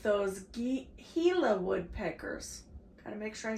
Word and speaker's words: Gila: Gila is a Spanish word and it's pronounced, it's not Gila. It starts with a G, but it's called Gila.